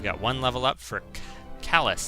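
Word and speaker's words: Kalas: one level up for callus that's how it's pronounced that's right been a few days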